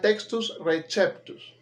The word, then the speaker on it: textus receptus: La C siempre debe sonar como una K. Siempre, en todos los casos. Receptus. ¿Ok? Textus receptus. Esa es la pronunciación. Hay una pronunciación de esta palabra más italianizada que diría textus receptus, pero es más italianizado. Lo correcto es textus receptus.